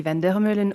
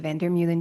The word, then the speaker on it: Vander Meulen: Uh, if you do not know me, my name is Vandermolen or Vandermolen, depending on where you are in the world and how you decide to pronounce my name.